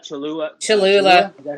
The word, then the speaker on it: Cholula: But I also like Cholula.